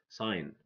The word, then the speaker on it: sign: Sign, design, align, foreign. G is silent here.